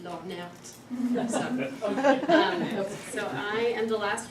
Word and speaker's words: Lhornert: I like to pronounce that slightly French accent, Lornert.